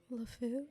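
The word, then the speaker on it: LeFou: yeah I would say I would say cogsworth lfu is how you pronounce it you did great as lefu and then you did great as the chair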